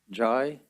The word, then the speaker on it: Jai: ai jai solik ram jai yes sir so the i is emphasized so jai yes sir okay uh